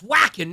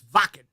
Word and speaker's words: Wacken: and it's you know people say, "Oh, it's whacking." No, it's not called Wacken. It's Vakan.